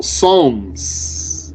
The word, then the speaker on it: Psalms: zabor that people call Psalms with a silent p ps a l Ms also revealed in Hebrew